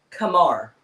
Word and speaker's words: Qamar: Kamar. Kamar.